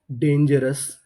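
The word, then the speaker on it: dangerous: DANGER डेंजर, OUS अस, डेंजरस, डेंजरस, डेंजरस का मतलब होता है खतरनाक।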